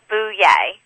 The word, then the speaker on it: Bouye: What is the correct way to pronounce it? It's Bouye. Bouye.